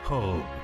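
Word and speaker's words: Hope: Se escribe H-O-P-E. Se pronuncia Hub.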